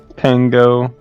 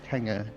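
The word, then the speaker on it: pengő: Pango as a currency. They had Hungarian that's- pangos. That's not how you pronounce it. It's Penga.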